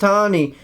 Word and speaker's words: Tanny: That's pronounced Tawny, but spelled Tanny.